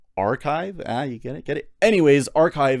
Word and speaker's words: arXiv: The X is supposed to be like a Greek letter chi, so it's pronounced archive.